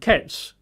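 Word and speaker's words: קֵץ: The word end is from a Hebrew word kets, Q-E-T-S.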